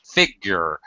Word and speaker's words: figure: These figure is the first syllable stress, figure.